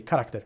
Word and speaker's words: character: Character is pronounced with the hard K. Character.